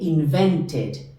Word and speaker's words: invented: en t to invent como el verbo termina en t ahí sí se pronuncia la e de invented com comentar comed e